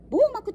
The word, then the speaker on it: BOMAG: んです今回は網膜者オピオリますよ初めてメーカーさんですがこれはと読むんですか bomag で網膜と呼びますボーナスは 1957 年